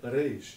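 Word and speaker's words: ריש: A maneira que nós pronunciamos ela é Reish, em aramaico.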